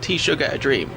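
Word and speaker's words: teşekkür ederim: learnt hello, merhaba, and thank you, which they told us to pronounce like tea sugar a dream. But they probably just say that to trick British tourists. It probably sounds nothing like that.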